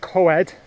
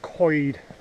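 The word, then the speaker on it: Coed: minute coid coid language it looks like co-ed but it's pronounced coid as if you're saying coid a bit of a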